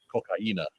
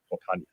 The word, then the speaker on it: cocaína: I know it's actually pronounced cocaína. That says. I know that that's the actual Spanish word for cocaine. I just like cocaña better.